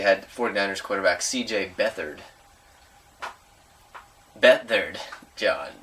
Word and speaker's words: Beathard: Beathard, John. Beathard, or Beathard, as you might think his name is pronounced.